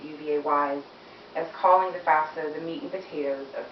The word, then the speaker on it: FAFSA: Um, if anyone here has considered college or better yet, how to pay for college, you may be familiar with the letters FAFSA. That is pronounced FAFSA.